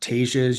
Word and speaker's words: Tejas: And Yes, Tejas is Tejas. how you say Texas in Spanish. So, but yoga obviously comes from India, and the ancient language of yoga is Sanskrit. And in Sanskrit, you actually pronounce the hard J sound.